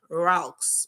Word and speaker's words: RALCS: ago I call it the ralcs formula rocks or if you try to pronounce it and it basically means